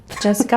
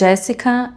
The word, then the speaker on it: Jéssica: Jessica. We’re saying it wrong now. People don’t even know my name anymore. They don’t say it right. It’s Jéssica.